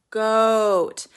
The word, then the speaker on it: goat: go goat it's long goat now sometimes you pronounce the T with a little bit of a t light T but when you're saying something like goat cheese the te is so tiny it's just a little